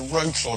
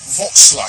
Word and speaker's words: Wrocław: Well, welcome to Wrocław.